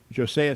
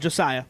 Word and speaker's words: Josiah: individually what your thoughts were about uh uh jose scott did i pronounce that right josiah josiah was close yeah and uh how you